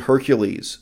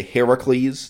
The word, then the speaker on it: Heracles: who indeed is the Hercules of our time and so in this video I'm mostly going to say Heracles not Hercules they're two two ways of pronouncing the same name in modern English who indeed is is